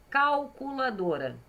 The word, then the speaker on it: calculadora: Que nem quando a gente fala calculadora. Ó, calculadora. O cal acaba saindo U, mas não é. É L, ó. Calculadora.